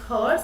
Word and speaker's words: hertz: expressed in terms of hertz what's the unit of frequency it is hertz it is called pronounces hers and while writing we write it as capital h and capital uh small letter z okay okay that's the